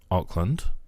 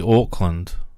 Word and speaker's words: Auckland: dust in the Martin Oakland Oakland what does it need to be Auckland that's actually how it said that's how you say it I'm saying Auckland what that's it your